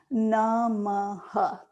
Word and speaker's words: Namaha: As you exhale, we're going to chant Namaha, three syllables.